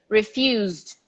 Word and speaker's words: refused: refused to sell it refuse s but pronounce like a z refuse in the infinity use we do have a vibration but there is no t or d so the vibration include you include the d because the d is also a verb that a letter that vibrates so we say refused refused refused everyone refused forget the e refused refused